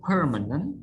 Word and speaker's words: permanent: Five, permanent. Stress on per.